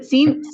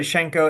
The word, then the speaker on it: Senko: Is it sinko? Then we pronounce it shenko. It's a weird Russian.